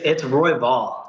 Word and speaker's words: Royval: How do you pronounce your last name? It's Royval. Royval.